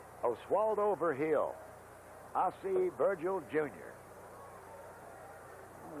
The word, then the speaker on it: Virgil: over hill I'll see Virgil junior all right his real pronunciation is ver he'll 278 one homer 5